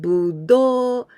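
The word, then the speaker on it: ぶどう: When we say, this intonation, budo, it means grapes, the fruit, grapes.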